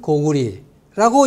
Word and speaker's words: 고구리: 이처럼 전운옥편, 어정시운, 신자전, 명문 신옥편, 한한사전, 큰사전, 최신홍자편, 대한한사전, 대한한 대사전 쭉 나가서 라이브 한자 사전까지 모두가 고려는 고리, 고구려는 고구리라고 읽으라고 되어 있습니다.